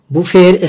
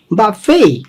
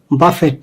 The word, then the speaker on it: buffet: এর উচ্চারণ কিন্তু তিনটা, একটা হচ্ছে বাফে, আরেকটা হচ্ছে বাফেই। প্রথম বতে উচ্চারণে জোর হবে, পরেরটাতে ফতে উচ্চারণে জোরটা বেশি হচ্ছে। তাহলে বাফেই দুই ধরনের, একটা হচ্ছে বাফেই আর একটা হচ্ছে বাফেই, এবং আরেকটা উচ্চারণ হচ্ছে বুফেই। তো বুফেই বলেন, বাফেই বলেন, বাফেই বলেন, কিন্তু বাফেট না।